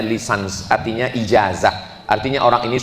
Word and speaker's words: licence: Bahasa bahasa Inggris cara membacanya lisans artinya ijazah.